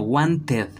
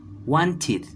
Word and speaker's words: wanted: Vamos a pronunciar no como wanted, no, sino como un id, wanted, wanted.